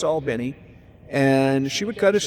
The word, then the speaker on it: Albany: He would take Air Force One, they'd go down to Albany, which is how you pronounce it if you're from Georgia. Some of you would say Albany, but if you're from Georgia, it's Albany.